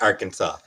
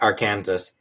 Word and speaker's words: Arkansas: Like, I know that the state is pronounced Arkansas, but I was talking about the fact that they have a law.